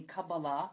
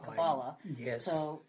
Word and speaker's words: Kabbalah: Well, the most Hebrew words that are accented on the final syllable, but most English words are not. It's just a variation in pronunciation.